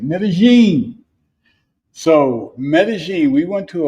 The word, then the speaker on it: Medellín: Medigene.